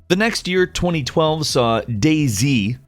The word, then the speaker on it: DayZ: The next year, 2012, saw Dayz, which, yes, that is how you say it.